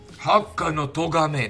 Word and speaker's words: Hakka no Togame: Hakka no Togame, that's how you say it, okay. Hakka no Togame, that's sick.